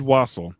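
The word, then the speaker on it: wassail: Homemade wasel. It's w a ss s a i l. So it's spelled weird. It's English.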